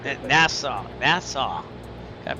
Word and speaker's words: Nassau: So I'm not nervous, but it's just been a while flying over open water here from NASA. Nassau. Nassau. Got to pronounce that right.